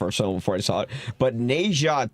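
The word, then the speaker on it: Ne Zha: But Neja 2. Neja? What's Neja 1? It's spelled N-E space Z-H-A.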